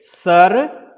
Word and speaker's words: Sarvanga: Sarvaanga.